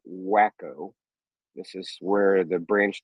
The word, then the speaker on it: Waco: A certain person is having a rally in Waco, Texas, and Waco is spelled W-A-C-O. Those of us from Texas call it Wacko.